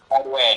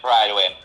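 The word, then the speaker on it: Prydwen: pronouncing this word right help me pronounce this word pyin PRN pwin it's Pride win oh Pride win okay thank you prior one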